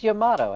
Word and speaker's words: Yamato: so you've got yamato here but no it's yamato have you ever um it's not it's yamato